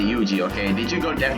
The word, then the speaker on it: Yuuji: I like the way how he pronounced it. Chinese. And Japanese actually. 似たようなもんだろ。お前、名前は Yuuji. Kazami Yuuji. ユージェンイか。まるで女みたいな名前だな。 I say Yuuji, okay?